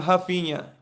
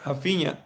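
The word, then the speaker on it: Raphinha: They call him Hafina. You don't pronounce the R, but I was going to say Hafina.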